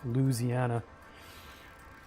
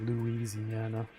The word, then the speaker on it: Louisiana: It's just there's a lot of syllables that just get dropped. It's Louisiana instead of Louisiana.